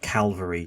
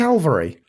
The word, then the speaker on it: Calvary: Yeah, Harry, it's cavalry, not calvary.